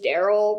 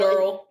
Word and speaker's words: Daryl: In the South, I believe you can say the name Daryl with as minimal syllables as possible. Daryl. Like, you can really get it down to just like a guttural Daryl.